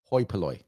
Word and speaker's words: hoi polloi: So it's pronounced hoi polloi. Thank you. Hoi polloi.